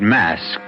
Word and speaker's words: masque: The word mask you should know is spelled m a s q u e and means masquerade.